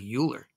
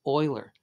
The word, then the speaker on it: Euler: his name is Euler it's not spelled Oiler though sounds like Euler some people do say Euler but it's actually pronounced Euler and Euler's number is